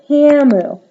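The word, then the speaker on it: Camus: tells him over lunch you're Camu it Rhymes but has a silent s cam he tells her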